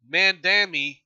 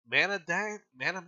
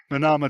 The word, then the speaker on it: Manama: before Mandama, Mandama, Manama, how do you say that?